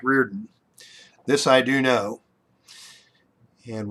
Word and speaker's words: Riordan: for dave stallworth from right orton and that and and i know that's not how that's pronounced that's mike reardon this i do know